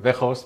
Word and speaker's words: Weghorst: name, is it Wout Weghorst? Yeah, I take it. I go for it. Yeah, in Dutch you say like Weghorst, but the G is, of course, in England a little bit difficult.